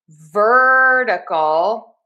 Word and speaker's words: vertical: Now technically this is a flap T in the syllable number two. However, I just spell it with my phonetic spelling as a D because the flap T is like a fast D sound. So we are going to stress syllable number one. We are going to have that flap t in syllable number two and we're going to say dur ver dal.